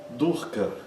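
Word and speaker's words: duḥkha: Outro exemplo, durka, que é sofrimento. Durka, tanto o curto quanto o a curto.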